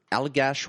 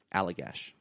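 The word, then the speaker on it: Allagash: Alagash. White. Alagash. Alagash. A L L A G A S H. Alligash.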